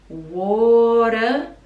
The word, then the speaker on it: water: The, like schwa pronunciation, the water spout. So water we pronounce with like a D sound and a schwa.